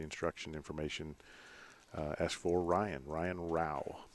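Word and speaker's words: Rouch: information, ask for Ryan Rao. Okay, spell that. R-O-U-C-H. Oh, okay. The CH is silent.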